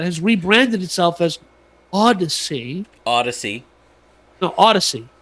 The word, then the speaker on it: Audacy: Audacy. No, Audacy. Audacy. Like Odyssey, like Honda Odyssey, but it's spelled stupidly.